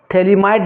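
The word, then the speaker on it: phthalimide: एक बता रहे हैं थली माइड रिएक्शन गेब्रियल थलीमा बहुत इंपोर्टेंट है डिंग दो Gabriel Gabriel थेली माइड थेली माइड reaction इससे बेटा पीएच होता है साइलेंट होता है गेब्रियल थलीमा इड रिएक्शन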